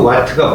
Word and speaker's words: 와트: W가 아니라 와트라고 읽어. 와트. 얘들아, 100와트가 뭔 뜻이야?